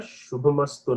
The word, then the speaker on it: शुभमस्तु: So that Go Brahmanebhyah Shubha, there the Sha is doubled. So there you should not use the F pronunciation. F only when it is followed by a P, Pa, Pakara. So here the Sha gets doubled.